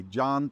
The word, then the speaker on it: Can: John pronounced like C-A-N, like can.